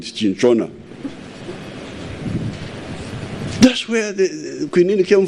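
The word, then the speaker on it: cinchona: My doctor here is saying chincona. For me, I was calling it chinchona.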